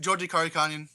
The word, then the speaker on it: Georgi Karakhanyan: Georgi Karakhanyan. Karakhanyan, okay. Yeah. All right, yeah, it's spelled all crazy, but yeah, this was a much better fight, Mike.